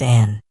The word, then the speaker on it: Anne: People called her Anne, pronounced Anne.